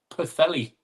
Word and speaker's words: Pwllheli: It's pronounced Pwllheli.